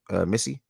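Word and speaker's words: Missi: Missy.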